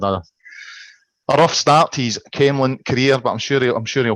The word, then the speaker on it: Camelon: Well, you do get different pronunciations, but the locals refer to it as Camelin, or Camelin.